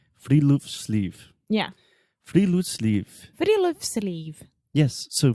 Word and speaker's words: Friluftsliv: Alexia, do you want to take a guess at how to pronounce this? We already know because we were practicing, so... Give it to me. It's Friluftsliv. Friluftsliv.